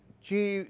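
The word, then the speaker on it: qi: motion taii means Chi means Life Energy CH chi in in traditional Chinese medicine Chi the the right is q i but we pronounce a chi Tai Chi like chi gong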